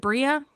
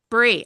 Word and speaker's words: Brie: Now, DL, and is it Bria? Bree. Brie. Okay, I've been pronouncing it wrong this whole time.